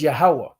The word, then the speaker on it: Yahweh: The right syllables, but not the right pronunciation. So it's Yahweh.